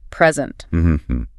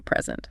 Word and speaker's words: present: Now, the verb, it means to show, to offer, to give. The stress moves. Present. Present. The pitch goes up on the second syllable.